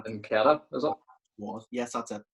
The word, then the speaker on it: Nketiah: Nketiah, is it? Yes, that's it. Yeah. Nketiah.